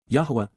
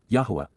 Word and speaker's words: Yahowah: YAHOWAH, YAHOWAH, the proper pronunciation of the name of Eloah, God as